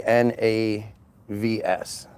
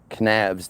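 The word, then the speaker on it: Knavs: We're talking about K N A V S Kavs. That was her name. Navs. Knavves. Kavs.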